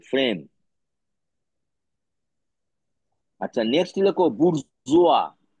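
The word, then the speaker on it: bourgeois: এ এম ই A frame আচ্ছা next লেখো বুর্জুয়া বি ও ইউ আর জি ই ও আই এস আই ই উচ্চারণটা লিখে নাও বাংলায় বুরজোয়া বয় অসু বর্গীর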